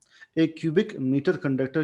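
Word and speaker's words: mho: मो ओहम के स्पेलिंग को उल्टा लिख लें। एम एच ओ मो या इसे एक और नाम देते हैं सीमेन।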